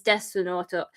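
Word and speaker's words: デスノート: But yeah, but and so obviously when they're writing it for Japanese people is Desunoto. But when these white weeaboos are saying Death Note, they're pronouncing it the Japanese way, and I'm like, it's totally unnecessary.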